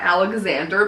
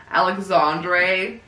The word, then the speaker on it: Alexandre: This Horns was directed by, I'm not sure, because this is not Alexander, because your name is Alexander, and I'm pretty sure this is like Alexandre. Alexandre Aja.